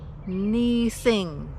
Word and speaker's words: Munising: Munising.